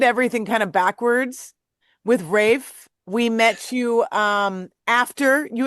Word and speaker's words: Raph: We have the infamous Raph of Rafe. Rafe. Rafe. I was calling you Raph forever. That's This okay. is A why. lot of people, because it's spelled wrong.